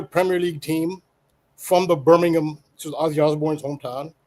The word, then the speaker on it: Birmingham: That's how they pronounce it. Americans say Birmingham. In England, they say Birmingham.